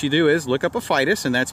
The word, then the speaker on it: Aphytis: So if you're interested in Aphytis wasps, what you do is look up Aphytis, and that's spelled A-P-H-Y-T-I-S, wasp, and for more information.